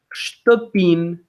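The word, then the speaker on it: shtëpinë: It's not ștăpină. If I pronounce it like that, it's because I want to let you know there is an there, ștăpină. But it's ștăpin, like that, ștăpin.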